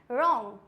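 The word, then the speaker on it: wrong: W silent कब होता है? आर से पहले डब्ल्यू साइलेंट होता है। आर से भी पहले अगर डब्ल्यू आ रहा है, इट मीन्स ये हो जाएगा silent. For example रॉन्ग, right, वो राइट नहीं होता है, it means right. Rap, wrapper, wrinkle, wrist.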